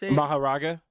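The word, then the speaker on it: Mahoraga: Maharaga. Maharaga that you could form apparently like because Fushigoro isn't even that strong.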